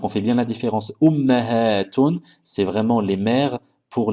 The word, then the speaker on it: أمهات: أجداد جدة جدات Ummun, ummahatun. Et bien prononcer le ha après le mim parce qu'en arabe, le mot ummat existe également et ce sera plus pour désigner les mamans des animaux.